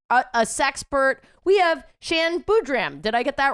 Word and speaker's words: Boodram: It's an am rather than an but it's very close. Boodram. Boodram. I just put the emphasis on the wrong syllable.